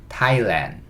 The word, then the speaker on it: Thailand: th도 그냥 티읕이다. 여기서는. 그 다음에 a는 아, i는 이. 그래서 요거는 타이라고 읽어요. 조금 전에 이 타이완 할 때는 h가 없었잖아요. 그쵸? 근데 여기는 h가 있어요. 하지만 발음은 똑같아요. 타이라고 읽어주시면 됩니다. 그 다음에 land인데 l은 real, 그 다음에 a는 n은 ni은, Thailand, 그 다음에 마지막에 있는 d, 그래서 Thailand 이렇게 읽어주시면 돼요.